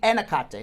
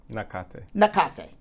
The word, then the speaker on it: Nakate: Yeah, now Vanessa and Nakate, I believe I'm pronouncing Nakate. But I think it would be Enakate, no? Nakate, for sure.